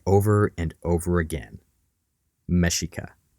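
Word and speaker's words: Mexica: over and over again mesika that word mesika which is spelled mexic Malin translated that that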